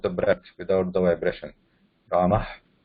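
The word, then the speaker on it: रामः: And when we say Ramaha also, Ramaha, it is not her. Ramaha, no, that's not right. Rama.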